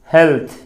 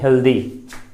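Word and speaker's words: healthy: अच्छा, कि हम लोग और उच्चारण करते हैं, ये तो हेल्थ ठीक है, लेकिन यहाँ जब वाई लगाते हैं तो उच्चारण अक्सर लोग करते मिलते हैं हेल्दी, लेकिन इसका भी उच्चारण है हेल्थी, हेल्थ।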